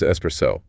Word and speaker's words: espresso: The correct pronunciation of espresso is espresso with the emphasis on the second syllable and no X sound anywhere, right?